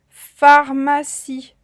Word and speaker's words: pharmacie: une pharmacie une pharmacie avec le son comme dans un phare ou un dauphin attention une pharmacie et à la fin de pharmacie elle est muette c'est un e ami e muet je dis pas une